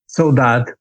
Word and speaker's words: saudade: Saudade. Okay. It's spelled Saudade.